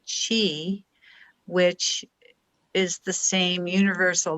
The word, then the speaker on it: qi: like acupuncture and it q i is the chi which is the same